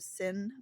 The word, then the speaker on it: sine: a part of the sin waiver the sign waiver s i n e silent E sin you know that's from